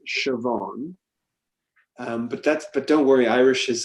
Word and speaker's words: Siobhan: The name is pronounced Siobhan.